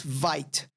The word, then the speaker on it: Vite: going to use vit all right uh it's spelled like this Vite I usually call it Vite but it's pronounced vit and this is a